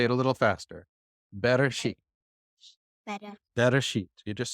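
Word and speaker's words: בראשית: Better sheet.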